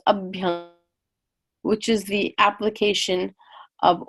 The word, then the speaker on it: abhyanga: just a beat Unger so there's just a thing called Sundy which means joining up to words a lot of times two words thing if one ends in a vowel let's say for example the next one starts with a vowel the vowels combine in different ways so Abhyanga Abby Unga becomes up young which is the application